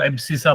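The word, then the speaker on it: abscissa: ए x coordinate है उसको एबस सा बोलते हैं क्या बोलते हैं एब ए बी सी आई एस एस ए एब ससा एब ससा प्रोनाउंस करते हैं एबस एब्सस एबस से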